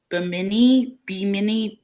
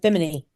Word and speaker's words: Bimini: Bimini.